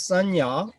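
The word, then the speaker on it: saññā: The original word is Sanya with long R, but coming together with the word Khanda, it becomes short.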